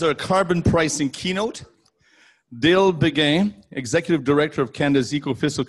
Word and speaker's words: Beguin: It's Beguin, even though it's spelled Beguin for me in French. Okay. It was French long ago and then moved to Southern Alberta and became Beguin. Yeah.